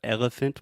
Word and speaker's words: elephant: Okay, so elephant, we have elephant. Elephant. Yeah, so the elephant, the middle sound, that's the schwa.